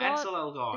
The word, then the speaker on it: Ansel Elgort: making a movie too, and it's gonna star Ansel Elgort. Ansel Elgort. Is that how you pronounce? Yeah, the guy from The Fault in Yeah.